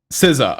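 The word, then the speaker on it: SZA: big three okay correct me how do you pronounce her name s I always feel like it's siza siza okay thank you you ain't in no big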